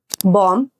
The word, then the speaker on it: bomb: But actual pronunciation alli, in all these words, we are not supposed to pronounce B.